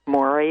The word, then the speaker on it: Moreah: if you would sure maury is m-o-r-e-a-h rhymes with gloria is v-e-s-t-a-n and